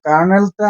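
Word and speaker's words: colonel: হইয়া ফরাসি ভাষা ল্যাটিন ভাষা বিবর্তিত হইয়া এ কার্নেলটা আসছে কি কলনেলে বা আমরা কলনেল বলি উচ্চারণে আসে তা কিন্তু সেটা কার্নেল কার্নেল আসছে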